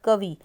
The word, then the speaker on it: कवि: रिशव छोटी ई आएगी उसके बाद कवि कवि में जल्दी से बोल रहे हैं हम ई की मात्रा को तो इसलिए हमारा कवि पर छोटी ई की साउंड है उसके बाद हानी हानी